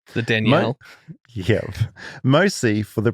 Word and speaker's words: Danielle: in the southern hemisphere, we pronounce it with two syllables as it is a combination of two names, Danny and L. Whereas in the north, it tends to get combined into one syllable, more like Danielle.